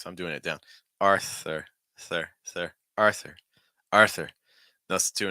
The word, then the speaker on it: Arthur: Noah Noah Arthur Arthur see how weak the th sound th always scares people but the T sound is actually really weak you want tip your tongue down um or against your top front tooth so I'm doing it